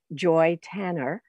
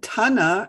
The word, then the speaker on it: Tanner: So in America, Americans would and many Canadians would pronounce it Joy Tanner.